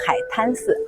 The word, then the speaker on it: Haitan Temple: Actually, what I just told you is not Haitang Temple , it's called Haitan Temple. Haitan Temple . Back then, Zhengzhou people pronounced it quite quickly.